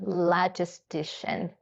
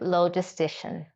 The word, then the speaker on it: logistician: Now, they are hiring for what is called a logistician. Now, some people do pronounce it logistician, okay? It's fine. I pronounce it logistician. Logistician is the correct way to pronounce it, though.